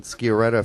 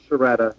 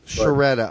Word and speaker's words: Sciaretta: Skoretta from Yanks Abroad. Uh, thanks for did I pronounce that right first of all? Uh it's a little tricky Italian name. It's Sharetta. Sharetta.